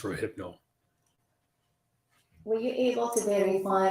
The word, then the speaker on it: Rohypnol: Rofino. That would be pronounced Rohypnol.